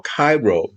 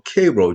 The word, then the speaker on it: Cairo: The truth of the matter is, Jackie Robinson was born in what you call Cairo, Georgia, and we Southerners call Cairo, Georgia, but it's spelled the same way.